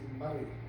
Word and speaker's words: Moray: The county and the name is Murray. It's pronounced as though it's written with a U, which is written with